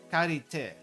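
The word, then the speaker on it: 借り手: Because this is the kanji for hand, normally pronounced as te, but in certain things it's pronounced as shu, as in there's a doer. But the doer here is the borrower. But for some reason they're going with te for this one.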